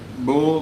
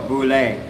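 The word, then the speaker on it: bule: Bull bull bull. I'm I'm think it's bullying, but I'm thinking it's bull. Uh anyway, uh oh, boule. Boule.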